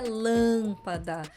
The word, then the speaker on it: lâmpada: hoje lâmpada mesma coisa a pronúncia é lâmpada e não é uma pronúncia fechada e nasal né Por causa do M assim como trânsito lâmpada Além da questão do assento ainda tem uma nasalidade bem marcada Essas foram as regras